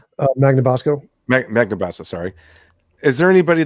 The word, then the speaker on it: Magnabosco: Bonamasso? Magnabosco.